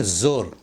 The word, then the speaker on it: زور: لفظ۔ اسی طرح سے جور بول دیتے ہیں، 17 نمبر پر دیکھیں، جور نہیں زور، زور یعنی طاقت، یہ فارسی کا لفظ۔ اسی طرح سے